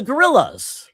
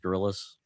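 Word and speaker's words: Gorillaz: Oh, the gorillas.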